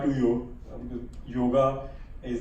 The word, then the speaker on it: yoga: So the core of our model is from yoga to yoga.